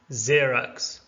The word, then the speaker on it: Xerox: And finally, X can be pronounced as Z like in Xerox, Xelim, and Xenon.